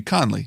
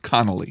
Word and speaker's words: Conley: It should be Conley, not Connolly.